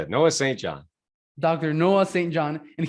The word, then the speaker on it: Noah St. John: Noah St. John. That's how you say it. Noah St. John.